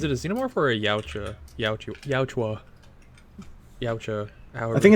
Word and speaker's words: Yautja: Yeah, it's spelled Yautja, but it's pronounced Yautja.